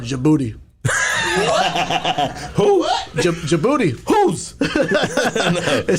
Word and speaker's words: Djibouti: So, this place in Africa, it's called Djibouti. Who? What? Djibouti. Who's the series called? It's called Djibouti. So the D is silent, dog.